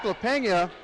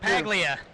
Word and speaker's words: LaPaglia: We head into the 138-pound weight class with Derek LaPena, or excuse me, pronounce the name for me. I keep messing that one up. LaPaglia. LaPaglia out of Blue Springs,